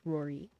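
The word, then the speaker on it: Ruairi: Spelled Ru-a-iri, but it's pronounced Rory.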